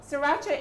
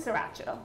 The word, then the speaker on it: sriracha: Sriracha is a, hot sauce that Asians use a lot in their cooking. Okay. And it also have rice vinegar. So I'm just with the pronunciation, go again? Sriracha. Sriracha.